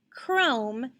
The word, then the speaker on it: chrome: are the words chris chrome and chorus what is the pattern in the initial position that is giving us the k sound the c and the